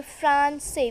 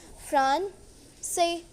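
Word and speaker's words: français: We say Francais. We pronounce it Francais.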